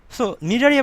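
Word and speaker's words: Cnidaria: একটা উদাহরণ হচ্ছে হাইড্রা সো নিডারিয়া পর্বের বৈশিষ্ট্য গুলো কি আমরা একটু সহজ ভাবে মনে রাখবো দেখো সো নিডারিয়া আমরা নিডারিয়া বলে সাধারণত আমি সি নিডারিয়া বলি সি নিডারিয়া বলি কেন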